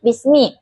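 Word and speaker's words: بسم: Kesalahan yang sering terjadi seperti pengucapan ba yang terlalu lemah, tidak rapat bibir sehingga terdengar seperti bismi. Contoh bacaan benar, bismi dengan bibir yang rapat saat pengucapan ba.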